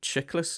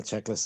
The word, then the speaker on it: Chiklis: it Chiklis? Is that how you pronounce Checklist.